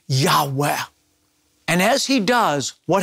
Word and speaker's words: Yahweh: as the tetragrammaton and most Semitic scholars believe it's pronounced a breathy Yahweh continual present action the